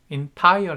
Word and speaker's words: entire: entire 해서 second syllable이고요.